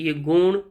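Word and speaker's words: Jung: तो इसका बिल्कुल सही आंसर होगा कार्ल यूंग, जिसे प्रोनाउंस करते हैं हम।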